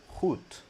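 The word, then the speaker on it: goed: Yeah the d at the end should be like a t sound. So hoot.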